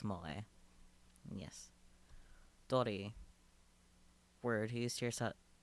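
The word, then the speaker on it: moe: Pronounced mole.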